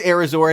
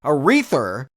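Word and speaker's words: Airazor: You say it's Arizor, and when I look it up, that's how it's spelled. But man, when you're in the theater trying to catch names and people are talking, I kept hearing Aretha, and I'm like, is this Aretha Falcon?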